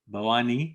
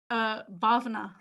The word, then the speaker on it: Bhavna: Bawani or Bawana, or how do you say it? Bhavna. Bhavna, mashallah, Bhavna. So Bhavna, Kamil.